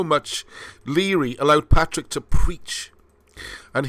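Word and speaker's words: Lóegaire: i r e so it looks like low gear i'm pretty sure from my ferry crossings on various rugby tours that it's spelt uh pronounced leery a bit like dundee or either harbor that's what i'm assuming so i'm going with leery okay right so one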